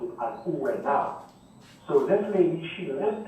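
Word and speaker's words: Ouvernard: But the Kalinago people pronounced it as Ouenao.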